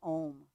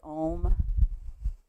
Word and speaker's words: Om: chanting the sound of om together the sound of oneness and om actually has uh four different pieces to it and then silence silence so if you